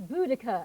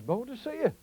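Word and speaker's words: Boudicca: Bia oh oh Queen boder lovely it's budaka actually are you sure thought it was bold to see you well people get confused because they see it written down they don't know how to pronounce it oh I see anyway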